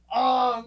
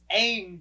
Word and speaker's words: Aang: They were calling Ong. It was Ong and Soka. I was like, it's Aang, guys. It's Aang.